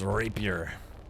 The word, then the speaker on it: rapier: Yeah, it's pronounced rapier.